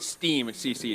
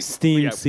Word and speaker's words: STEM CC: We actually pronounce it STEAM CC. STEAM CC. That's how we pronounce our acronym.